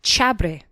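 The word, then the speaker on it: xabre: in their soils and it's called chabre now this is spelled with an X because remember they well there's lots of x's in all of their words so it's spelled x-a-b-r-e remember there is a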